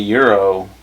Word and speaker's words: gyro: How you say it? Gyro? Euro? It's supposed to be Euro, but I guess in ever American it would be gyro.